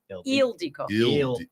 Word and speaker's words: Ildiko: Eldico eel. Yeah. It's like the pronounces is on the front part.